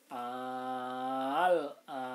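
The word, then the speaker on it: آلْآنَ: Ini hanya ada satu perkataan saja dalam surat Yunus, yaitu al-an. Jadi cara membacanya sama, 6 harokat. Nah, cuma ini hanya ada satu kalimat dalam Al-Quran. Al-ana. Nah, dibaca 6 harokat.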